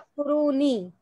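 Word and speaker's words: تَكْفُرُونِ: Ya is hazaf. It's present, but we can't see. But we pronounce takfuruni.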